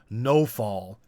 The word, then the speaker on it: Nawfal: It's spelled like Nawfal, but the Russians say it weird. They say it more like no-fall.